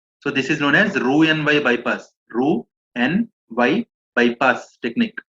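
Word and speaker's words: Roux-en-Y: Ru n y bypass Ru n y x is silent Ru n y bypass okay okay yeah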